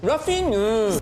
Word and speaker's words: Raphinha: Say his name the way the Brazilian commentators say his name, the way that we live. Raphinha.